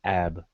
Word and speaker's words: ib: It's the word ib. Some people pronounce that as ab or ib.